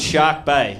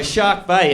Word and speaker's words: Shark Bay: in a place called Shark Bay okay shark shark with an R okay I don't I don't pronounce my eyes okay I don't have